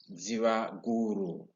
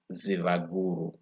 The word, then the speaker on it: Zivaguru: There was Zivaguru. Remember V there? Don't pronounce V as V, but as Va. Zivaguru.